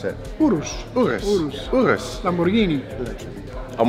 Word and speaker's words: Urus: Well, we're gonna take the Urus off-road. How do you pronounce it? Urus.